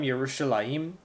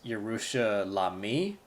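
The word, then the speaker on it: ירושלים: Egypt for Jerusalem yerushalayim you'll notice that the here ik under the mem is pronounced first again this is one of those just the the rule in place that in Hebrew every word begins and ends with a consonant when it's being written so you you don't pronounce this Jerusha la me if that were the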